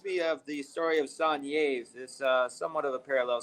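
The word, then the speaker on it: Saint-Yves: He was from France, and his name is Saint Yves, if you pronounce the words in English, but it's pronounced Sanyev in French.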